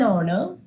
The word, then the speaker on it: honor: the award with an honor Raku is an honest gentleman is an honest gentleman so again you can see our honor honest all these three words H is silent so the next alphabet